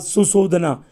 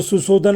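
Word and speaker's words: Suddhodana: Okay, 9 number question को आप जान लें, हु वाज सुशोधना। इन्हें सुशोधना अगर हिंदी में आप कहेंगे तो सुशोधन हम लोग कहेंगे। ओके, यानी इंग्लिश का प्रोनाउंसिएशन है सुशोधना।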